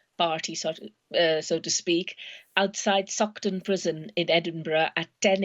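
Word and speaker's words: Saughton: protest a welcome party so to speak outside sukton prison in edinburgh at 10 a.m let me spell that for people uh doctor it's s a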